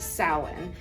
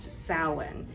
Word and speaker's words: Samhain: But it's a Celtic word, and it is actually pronounced Samhain, in Ireland anyway.